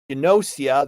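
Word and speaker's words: Gnosia: Let's play Inosia. That's that's spelled G N O S I A.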